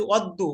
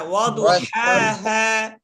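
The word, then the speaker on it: وَضُحَاهَا: আপনি বলতেছেন ওয়াশ-শামসি ওয়াদ্দু, ওয়াদ্দু না তো, ওয়াদু, ওয়াদু, এখানে তাসদিদ নাই। দদের উপর কি তাসদিদ আছে? না না না, ওয়াদু। হ্যাঁ, ওয়াদুহাহা।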